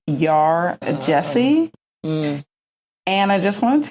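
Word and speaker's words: Yaa Gyasi: read homegoing I believe the author's name is pronounced um y Jesse and I just want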